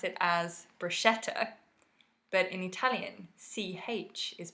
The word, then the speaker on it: bruschetta: called a lasting mark ii album yes above bruschetta oh yeah so in english we often pronounce it as bruschetta but in Italian CH is pronounced as a